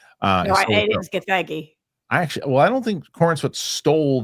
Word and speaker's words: Gathegi: No, it is Gathegi.